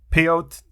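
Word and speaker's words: Pérotin: I believe his name is pronounced Perotin. Okay, I can't even do this. I'm sorry. His name is spelled Perot. Perotin, Peota, I think.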